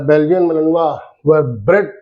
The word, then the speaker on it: Malinois: इनका नाम जो है बेल्जियन मेलेनॉय और प्रोनाउंस एज मेलेनवा ये पड़ा है। Belgian मेलेनवा were bread to be herding dogs, मैंने बताया आपको शेफर्ड डॉग्स।